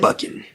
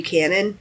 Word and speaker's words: Buchan: Buchan. I hate the way his name is spelled, because it looks like it wants to be Buchanan. Yeah. But it's not. Buchan.